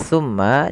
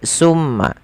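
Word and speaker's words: ثم: Teman-teman hati-hati di dalam melafalkan tsu jangan sampai kita membacanya dengan sin dengan pakai su gitu ya. Pakai summa. Karena kalau kita merubah dan menggantinya maka maknanya berubah. Hati-hati juga jangan sampai terdengar dengan baca summa summa dengan syin ya.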